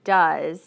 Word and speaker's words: does: what does he need notice that when we say does it sounds like the this does but it's spelled like this dough's or dues we say it this way though does what does okay that's how it sounds what does he need